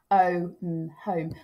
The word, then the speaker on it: home: And then this is an example of a split digraph, home. We won't, the E on the end is silent.